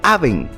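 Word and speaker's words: און: y lengua de tractora en el idioma original inicuo se pronuncia aben y significa iniquidad maldad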